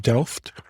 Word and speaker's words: Delft: Well, now, IKEA's headquarters is it pronounced Delft?